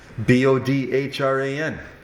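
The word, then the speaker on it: Bodhrán: The first syllable is bow, not bow, similar to the bow of a ship or the action of bowing after a performance. The second syllable is Ron, similar to Ron Burgundy.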